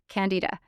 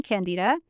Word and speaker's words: Candida: yeast diet is called Candida. I think you're supposed to pronounce it Candida, but it sounds like Canada and everybody gets confused.